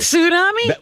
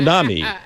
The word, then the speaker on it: tsunami: tsunami. Yeah. Tsunami. That's the way it's supposed to be. Let me hear you pronounced. say it. Say it again. Tsunami. Tsunami. Yeah, there's a T Tsunami.